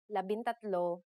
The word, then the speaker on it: labintatlo: For the letters D, L, R, S, and T, the G from NG is dropped to make it easier to pronounce. Labindalawa, labintatlo, labinlima, and labinsyam.